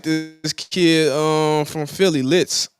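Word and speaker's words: Lihtz: and I like this kid um from Philly litz it's spelled l i h TZ litz he actually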